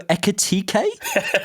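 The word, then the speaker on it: Ekitiké: We've got a scouted episode coming out of a player I haven't researched yet, as you can tell, Hugo Ekitike, is I believe how you say his name.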